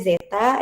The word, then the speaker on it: zeta: Ini dibacanya zeta dikali tau dikali S plus 1.